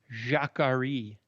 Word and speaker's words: jacquerie: Today's word, Eric, is jacquerie. Jacquerie. Jackery. Yeah, it's pronounced.